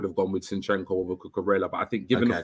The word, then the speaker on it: Cucurella: Next one I'm going to go with, and I'm going to pronounce it right this time, is Cucurella. Cucurella, yes.